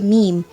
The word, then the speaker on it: meme: the french word meme it should be pronounced to rhyme with cream where there were a